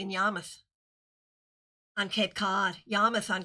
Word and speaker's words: Yarmouth: Let me say it correctly, in Yarmouth on Cape Cod.